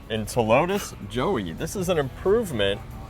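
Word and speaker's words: Ptilotus: know what's silent uh the p is silent and telotus joey this is an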